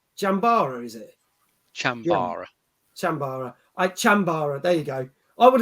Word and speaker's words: chambara: sword fighting jazz thing which i can't even pronounce the name yeah fencing they jump up that's it jambara is it chambora sambara chambara there you go i would have called it